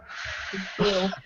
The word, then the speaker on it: Versailles: Sales.